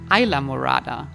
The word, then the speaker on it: Islamorada: Even though the name Islamorada came from early Spanish explorers and means translated purple island, You don't pronounce it the Spanish way anymore, but very English, with Isla being now Isla, similar to the word island.